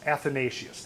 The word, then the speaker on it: Athanasius: Let's see, I've forgotten how to pronounce that. Athanasius. Oneos Athanasius. Athanasius, that's it.